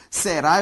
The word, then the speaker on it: será: Será tem como sílaba tônica a última, ou seja, uma oxítona.